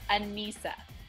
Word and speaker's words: Annissa: It's, just think of Lisa. It's Annissa. Okay, Annissa.